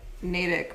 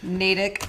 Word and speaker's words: Natick: What I know is that I said Natick wrong on the news last week. And it's Natick, not Natick. I say stuff wrong.